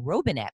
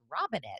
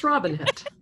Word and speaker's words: Robinett: I've been saying Robinett, but it's Robinett, isn't it? Yeah, it's Robinett.